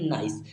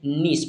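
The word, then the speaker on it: nice: पढ़ते हैं प्यारे स्टूडेंट्स एन आई सीई को पढ़ते हैं नाइस क्या पढ़ते हैं नाइस ना कि हम इसे नीस पढ़ के ठीक है इसे हम पढ़ते हैं नाइस क्या पढ़ते हैं नीस तो इसे हम सॉरी इसे हम पढ़ते हैं नाइस ना कि हम इसे नीस पढ़ेंगे ठीक है तो इसे हम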